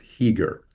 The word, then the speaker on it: Chiger: was uh is pronounced heager. So ch is a silent c.